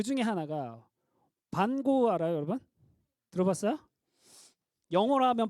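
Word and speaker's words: Van Gogh: 또 그 중에 하나가 반고 알아요, 여러분? 들어봤어요? 영어로 하면 반고지만 원래는 반 호흐. 호흐. 왜냐면 반고는 네덜란드 사람이었으니까. 네덜란드어로는 G가 흐 발음 나거든요.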